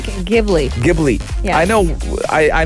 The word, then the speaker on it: Ghibli: studio deep how do you say this one gibby ghibli ghibli yeah i know i i know i should